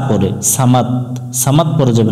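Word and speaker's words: صمد: আমরা এখানে সাকিন ধরবো সমাদ আল্লাহুস সামাদ আল্লাহুস সামাদ এখানে আমরা দুইটা ভুল করি আল্লাহ এবং এখানে ভুল করি সামাদ শেষে দ উচ্চারণ না করে এখানে ত উচ্চারণ করি সামাদ সামাদ না সমাদ লাম মিম জবর লাম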